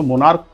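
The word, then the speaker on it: monarch: मोनार्क बोल रहे हैं हम ना कि मोनार्च बोल रहे हैं। तो मोनार्क इसको हम जब प्लुरल करेंगे तो ई एस नहीं जोड़ेंगे।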